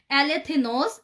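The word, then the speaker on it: ἀληθινός: और असल मतन जो है यूनानी में सच्चे के लिए जो लफ्ज यूज हुआ है ये है एलेथिनोस। एलेथिनोस के मैं आपको स्पेलिंग देती हूं, अगर आप में से कोई नोट्स लिख रहा है तो इसके जो स्पेलिंग है ALETHINOS है।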